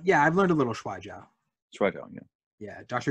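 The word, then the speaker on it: 摔跤: Yeah, I've learned a little Shuai Jiao.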